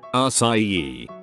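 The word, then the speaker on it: açaí: Show her that when it's properly spelled, the C is actually a cedilla. C cedilla, which changes the hard C to a soft C, which is pronounced like an S.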